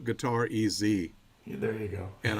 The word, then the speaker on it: Gutierrez: Well, years ago, when I was born, it was Gutierrez. But as a music teacher, back in the 80s, I was having people write me checks all the time. And they always were asking me, how do you spell it? How do you spell it? And one day I just said, just put guitar EZ.